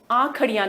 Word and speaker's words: आंखड़ियां: आगे चलें, अगली साखी है आंखड़ियां। देखिए, मैंने आपको पिछले सत्र में बताया था कि ये जो श आएगा, इसको हम ख की तरह इसका उच्चारण करेंगे। आंखड़ियां झाई पड़ी, पंथ निहारे